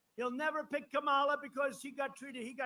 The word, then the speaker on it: Kamala: Kamala, like a comma.